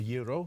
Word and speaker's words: gyro: A gyro or a euro? Yeah, gyro or euro. Americans might say gyro. Euro. Euro. Why put the G there if you're only going to pronounce the Y?